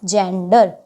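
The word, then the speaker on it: gender: ज से उच्चारण करेगा तो देखो जी के बाद हमारा क्या है ई है ई हमारा रूल के अंदर है तो जी किससे उच्चारण करेगा हमारा ज से जी ई एन डी ई आर क्या बन गया जेंडर इसी तरह से ई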